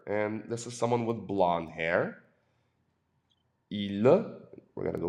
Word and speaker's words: blond: It's a deep nasal sound. Il est blond. There's a little lag here in my writing. I apologize for that. Il est blond, B-L-O-N-D. Il est blond, blond. And for the female, all you have to do is add an E at the end. Excusez-moi. There we go. Elle est blonde. Now you hear the D.